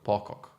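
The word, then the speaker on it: Pocock: How do you pronounce his surname? Po pock, right? PCO. PCO. Pock. Pacco. That's the respectful way to say it.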